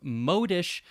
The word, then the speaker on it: modish: ever heard that word or it might be modish modis sounds better but modish okay both pronunciations in oxford modish or modish conforming to or following